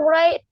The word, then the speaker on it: write: saya tulis itu novel Bacanya jangan W nya nggak usah dibaca lingkaran Masih nomor 3